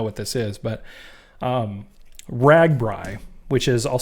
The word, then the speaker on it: RAGBRAI: midwest you know what this is but um ragbrai which is i'll spell it out it's this r-a-g-b-r-a-i ragbrai and it stands for the register's great